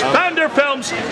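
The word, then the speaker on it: Pfanderfilms: Vanderfilms spelled with a P.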